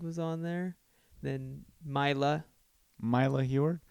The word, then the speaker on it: Mila: Mila Heward? Mila. Why don't you call her Milas? So it rhymes with Silas.